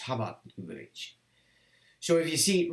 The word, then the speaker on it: Chabad Lubavitch: Now, it's spelled Chabad, so, but it's pronounced Chabad Lubavitch.